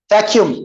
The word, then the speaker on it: vacuum: Vacuum. We pronounce a single U, not double U.